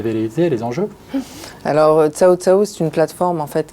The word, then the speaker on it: CaoCao: Verouchka Becker, du coup directrice du développement, du marketing et de la communication chez Ciao Ciao. Exactement. Est-ce que je le prononce bien?